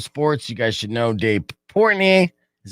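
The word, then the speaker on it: Dave Portnoy: stool sports barstool sports you guys should know dave portney is how you say his name yeah yeah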